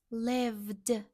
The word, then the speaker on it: lived: Live plus ed. Lived. Sounds like d.